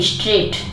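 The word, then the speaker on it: straight: रहता है ठीक है और आपको मैं और बता दूं कि इसमें एक ये है स्ट्रेट स्ट्रेट में भी टी के पहले जीच है वो हमेशा साइलेंट रहता है मतलब कहीं प भी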